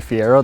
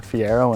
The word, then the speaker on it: Fiero: They're thinking say Fiero, they think you're pronouncing Ferrari wrong, right? But no, it's a Fiero and we're pretty proud of it.